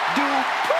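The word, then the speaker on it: Dupri: Michael, it's pronounced Dupree.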